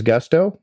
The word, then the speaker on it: Gusto: What is Gusto? Well, it rhymes with musto or rusto, as in let's do it once more with Gusto.